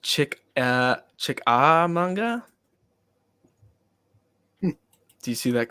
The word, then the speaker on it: Chickamauga: It's phonetically pronounced Chickamauga.